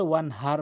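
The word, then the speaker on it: وانحر: এখানে বড় হার জায়গায় ছোট হা এনে উচ্চারণ করে, যার ফলে নামাজ ভেঙে যায়, অর্থ চেঞ্জ হয়ে যায়, সঠিক অর্থ দাঁড়ায় না। ওয়ানহার, হাটি হলকের মাঝখান থেকে উচ্চারণ করতে হবে।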